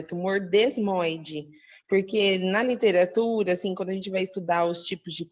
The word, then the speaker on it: desmoide: eu tive que é tumor desmóide é com s mesmo né a pronúncia ele é um tumor